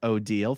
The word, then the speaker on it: Odile: Name pronounced Odile. Think of Deal or No Deal.